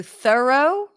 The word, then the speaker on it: thorough: more question questions throw is very similar in how it sounds to thorough thorough but it has this additional syllable for the thorough throw it away you